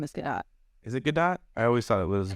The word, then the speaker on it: Gadot: She pronounces it Gadot or something along those lines where the T is actually prominent. It's not Gadot. It's not silent. I think the T actually makes the sound.